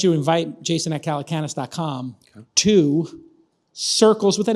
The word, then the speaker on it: Sircles: I would just call it Sircles and then do Get Sircles or Go Sircles. It is just Sircles. But it's spelled with an S.